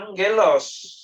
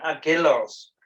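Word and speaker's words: ἄγγελος: Dan dibacanya angelos, bukan agelos.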